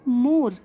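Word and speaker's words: more: Third है मोर, मोर, जो E letter है इसकी साउंड यहाँ पे साइलेंट है, ठीक है, तो E लेटर हो गया साइलेंट।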